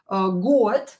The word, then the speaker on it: год: Another word can be год. Same here. Год, ear. Год is ear, and you can hear that I pronounce D as T.